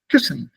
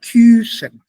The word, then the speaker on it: küssen: So the U umlaut precedes the double consonant SS. So the pronunciation will be short. Kissen, not Kusen.